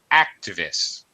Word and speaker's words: activists: before you continue um the word activist first syllable stress activists activists yeah that's it